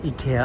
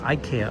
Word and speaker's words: IKEA: and N once again the Ika of Japan or Ikea of Japan depending on how you like to pronounce it here in Japan they pronounce it so I don't know how they pronounce it in Sweden I think that's where it's from right that is the something